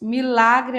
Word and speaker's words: milagre: E questão 19, letra B, quando diz milagre é oxítono. Milagre não, ela é paroxítona.